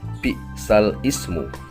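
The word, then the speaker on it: بئس الاسم: Cara membacanya, lafadz bi'sal ismu selanjutnya dibaca naql dengan bi'salismu, yakni memindahkan harokat alif kasroh pada huruf lam yang mati. Bacaan yang awalnya bi'sal ismu dibaca secara naql menjadi bi'salismu.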